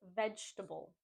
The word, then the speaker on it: vegetable: The next word is vegetable. Vegetable. I've heard some people say vegetable and vegetable, making it four syllables, but we just want to say vegetable. Vegetable.